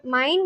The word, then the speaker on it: mijn: Mijn, like it's pronounced like the English word mine, using an M sound followed by a diphthong I.